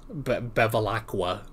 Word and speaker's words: Bevilacqua: Bevilacqua.